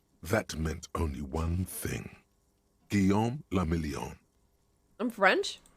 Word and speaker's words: Guillaume la Million: Guillaume la Million. I'm French? If it doesn't rhyme, you're not pronouncing it right.